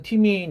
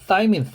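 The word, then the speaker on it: thymine: 타이민도 뭐 고등학교 교과서나 티민 이렇게 나오지 다 사이민 이렇게 발음합니다.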